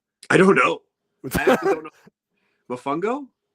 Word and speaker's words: Mofongo: pronunciation I don't know Mofongo yeah you know I called it fomango yes uh yeah so we got Mofongo which is not flamungo uh yeah we got